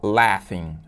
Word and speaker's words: laughing: All laughing. All laughing, todos rindo, todos gargalhando. E atenção na pronúncia dessa palavra, né? Laughing, laughing, porque esse G e H tem meio que um som de F, né?